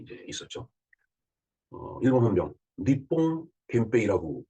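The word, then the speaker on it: 憲兵: 일본 헌병 니뽕 겐페이라고 그 일본말로 발음을 하면 되겠죠.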